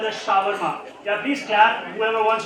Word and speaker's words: shawarma: Can you spell it? How do you spell that? Shama. Oh, close enough. Anybody wants to take it from there? He is very, very close. Shawarma. It's called shawarma.